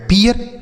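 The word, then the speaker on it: peer: पी से पढ़ेंगे प अब यहां पर डबल ई के साथ आर है तो इसका उच्चारण जो होगा वह ईय के रूप में होगा तो ये हो गया पीय आर से पढ़ेंगे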